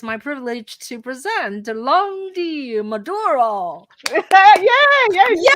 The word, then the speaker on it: Landi Maduro: today, it's my privilege to present Landi Maduro.